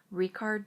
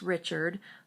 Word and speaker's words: Richard: The composer that I picked to talk about today is Richard Strauss, and his first name looks like it'd be pronounced Richard, but in German it would be pronounced Richard, and he is a German composer.